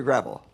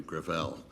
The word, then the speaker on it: Gravel: the next witness senator gravel with all due respect let me correct uh i pronounce it within my family griffell it's a french name thank you i want